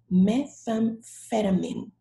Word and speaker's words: methamphetamine: word cathartic also methamphetamine notice that the ph sounds like f methamphetamine good words okay kids